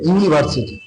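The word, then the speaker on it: university: সেই জায়গায় আমরা এ ব্যবহার করি যেমন এ ইউনিভার্সিটি দেখো ইউনিভার্সিটি যখন আমরা উচ্চারণ করব তখন ওয়াই সাউন্ড আস তখন ওয়াই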